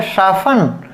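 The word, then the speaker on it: soften: लिस्टन गलत हो गया, लेसन, इसको पढ़ेंगे शाफ्टन, ठीक है, तो इसे पढ़ेंगे शाफन, और इसे पढ़ेंगे आफन, यानी कि इसमें भी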